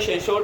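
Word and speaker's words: censor: तो एक होता है, इसको सेंसर भी पढ़ देते हैं, इसको भी सेंसर पढ़ते हैं, कहीं पे सेंसोर पर लोग पढ़ देते हैं, लेकिन उसका प्रोनाउंसिएशन लगभग ना के बराबर माना जाता है, सेंसर ही इसको माना जाता है।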